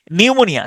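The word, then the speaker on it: pneumonia: এই সাইকোলজির এবং হচ্ছে নিউমোনিয়া সাইকোলজি এবং হচ্ছে নিউমোনিয়া এই দুইটার শুরুর দিকে যে পি এটা কোন উচ্চারণ হয় না এটাকে আমি উচ্চারণ করতে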